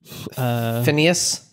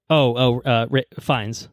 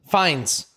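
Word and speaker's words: Fiennes: Phineas. The menu. Fines. Fines. Yeah. Fines. It's not how it looks.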